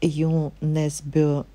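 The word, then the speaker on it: Jo Nesbø: со школы вот опять ю несбё полом и так правильно произносится family at в автором вот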